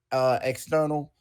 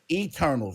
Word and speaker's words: Eternals: Marvel is gearing up for a release of their latest superhero flick, External. Did I say it right? Internal. Internal. I said external. Eternals.